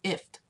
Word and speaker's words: IFTTT: if this then that this is pronounced if it's kind of like gift but without the gut it's ifft so we are going to